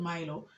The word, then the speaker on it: Mailo: And I think the pronunciation, as Baganda, we tend to pronounce everything. So pronounce each and every syllable. So from mile came the word Milo, or at least from what we were told.